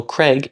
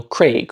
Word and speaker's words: Craig: A while ago, I made some videos about people saying Daniel Craig instead of Daniel Craig, which is the way the actor himself pronounces it.